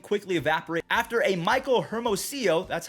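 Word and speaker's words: Hermosillo: have that lead quickly evaporate after a michael hermosio that's how you say his name there we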